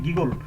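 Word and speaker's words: giggle: এখানে হচ্ছে এটা হচ্ছে জিগল উচ্চারণ না হয়ে এটা হবে গিগল।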